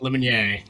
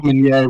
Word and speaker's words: Lemonnier: Camp Lemonnier. Camp Lemonnier.